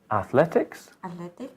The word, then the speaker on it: athletics: How do you pronounce the letter E there? E. Yes, the double length, the same as technique, technical technique, athletics, athlete.